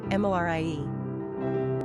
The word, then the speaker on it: Moriah: Pronunciation, Morie.